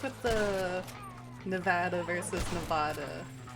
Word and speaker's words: Nevada: Sort of like with the Nevada versus Nevada. It's like people who live in Nevada will get mad if you pronounce it Nevada, but Nevada is the Spanish pronunciation.